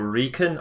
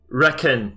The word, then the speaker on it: RecoN: the you know uh reckon no Recon actually so doing recon operations um but I'm gonna keep calling him reckon because we kind of established that yesterday I'm gonna stick to that pronunciation I hope he doesn't